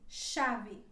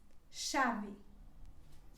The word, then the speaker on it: chave: a letra h acompanhada da letra c que ficaria assim chave chave e depois seguimos com